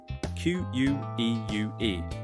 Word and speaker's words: queue: The spelling is crazy. q u e u e, but we say queue. Just one sound.